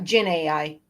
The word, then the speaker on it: Dzin AI: also Googled it, and it's pronounced Jin. Oh, like okay. Genie. Huh? Yeah, okay. Like a genie. So like Jin AI? Yeah, Jin AI. That was my first guess, actually. When I first saw it, that was my first thought. Like the Z is pronounced like a ZH or a French J.